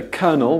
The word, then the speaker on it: colonel: At this time, the common pronunciation was mixed between the older kernel with a K and the newer kernel, the